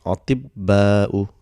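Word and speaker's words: أطباء: So this ta, because it has got sukoon for pronunciation, it becomes ti, and ba will get a shadda. So it becomes atibba'u.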